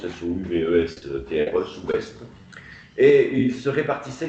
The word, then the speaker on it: Souvestre: L'un s'appelle Allain, avec 2 L, et l'autre Souvestre, comme ça se prononce, S-O-U-V-E-S-T-R-E, Souvestre.